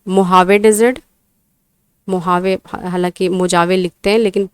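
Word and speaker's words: Mojave: Great basin desert, उसके बाद में मोहावे डेजर्ट, मोहावे हालांकि मोजावे लिखते हैं लेकिन प्रोनाउंस करते हैं मोजावे डेजर्ट।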